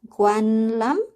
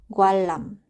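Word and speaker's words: 관람: Nah, yang ketiga ada kata gwanlam. Di sini 받침 nian ketemu dengan huruf real. Jadinya si niannya ini berubah menjadi huruf real. Ya, jadinya dia bacanya adalah gwalam.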